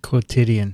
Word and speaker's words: quotidian: Are you going to pronounce this for me? Quotidian.